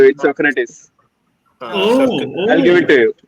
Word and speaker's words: Socrates: इट्स सोक्रेटिस। I'll give it to you. Socrates.